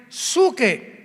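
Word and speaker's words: ψυχή: Y la palabra almas de hombres es la palabra griega suche, que se pronuncia suke.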